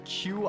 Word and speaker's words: Qi: q you can play Qi I think it's pronounced like Chi or whatever uh and that's the